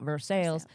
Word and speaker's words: Versailles: Versailles, Missouri. Should be probably pronounced Versailles, but we call it Versailles.